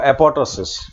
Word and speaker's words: apoptosis: silent तो खैर का यह कहना है कि एपॉपटोसिस जो है इसको इस तरह बोलना चाहिए कि सेकंड जो है वह साइलेंट एपॉपटोसिस की बजाय इसको एपॉपटोसिस बोलना है यह ज्यादा सही है इसके अलावा